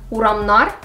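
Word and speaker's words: урамнар: Notice how the stress moves to nar, uramnar.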